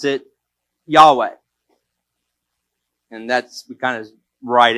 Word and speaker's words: Yahweh: Now, in the Hebrew name for God, we pronounce it Yahweh.